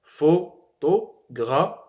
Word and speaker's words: photographie: Par exemple, nous avons le mot photographie. Photographie. Où est la dernière syllabe ici? La dernière syllabe, c'est fi. Donc, lorsqu'on parle, on commence par photographie.